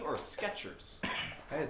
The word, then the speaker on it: Skechers: Skechers with a T or Skechers? I had Skechers with a T. That's what I remember. It's not.